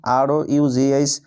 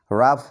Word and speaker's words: rough: ROUGH, রাফ এর অর্থ হলো রুক্ষ।